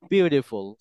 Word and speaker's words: beautiful: সো এখন এখানে উচ্চারণ হবে হচ্ছে বিউটিফুল।